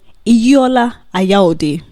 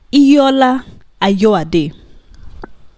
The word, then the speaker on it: Ayad: Four videos in which he insults Chatter House and their CEO Aya. No, wait. I didn't pronounce that well. Ayad. See, I got the pronunciation right.